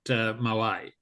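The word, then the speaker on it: Moët: Before we actually started recording, we were talking about pronunciation, and John had lots of interesting things, but it's actually Moet, not Moet, because he was Dutch.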